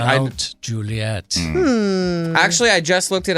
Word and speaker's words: Mount Juliet: It's called the Mount Juliet Estate. Not mountain.